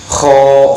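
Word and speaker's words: خ: Makhrajnya kho adalah dari tenggorokan yang paling atas dengan suara mendengkur dan bibir mencucu. Contohnya Kho khi khu akh, kho khi khu akh, kho khi khu akh. Kenapa pengucapan kho itu harus moncong atau bibir mencucu?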